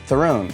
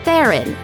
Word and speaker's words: Theron: Everyone says Throne. They screw it up. Yeah, it's not Throne. No. The proper way to say her last name, at least for Westerners, is Theron, but in her native tongue, Afrikaans, it's actually quite different.